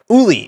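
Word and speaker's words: Óli: They didn't pronounce it Ollie. I think it was Oli. Uli.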